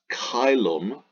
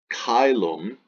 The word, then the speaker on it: caelum: Latin will pronounce this caelum caelum Church Latin pronounces this a E as a and then changes this to a soft C so Shalem Shalem G